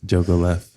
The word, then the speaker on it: Jogoleff: We have Xtina Jogoleff.